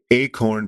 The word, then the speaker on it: Achorn: It's called The Lincoln Miracle by a historian and journalist named, I think it's pronounced Acorn, but I don't know.